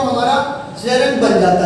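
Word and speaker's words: gerund: पहला होता है हमारा इन्फिनिटिव, दूसरा होता है हमारा जेरंड और थर्ड होता है हमारा पार्टिसिपल. फ्रेंड, इसकी जो प्रोनाउंसिएशन है वो होती है जेरंड, ना कि जिरंड. जेरंड बोलते हैं जेरंड.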